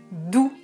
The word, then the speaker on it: doux: Je prononce doux avec le son OU.